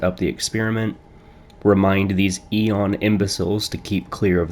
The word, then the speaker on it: Eon: the world today the Aon program is that e on I'm sorry I'm it's pronounced e on e e you or